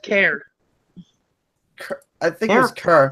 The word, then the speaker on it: Kerr: It's pronounced care.